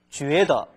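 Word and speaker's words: 觉得: 이 각자가요, 지아오인데 잠잘 때는 쉬이지아오라고 읽어주는데 또 다른 표현, 쥐에더, 느끼다, 생각할 때는 발음이 지아오가 아니고 쥐에라고 읽어집니다. 그래서 쥐에더라고 읽어집니다. 그래서 쉬이지아오, 그 다음에 쥐에더 이렇게 구별을 해주세요.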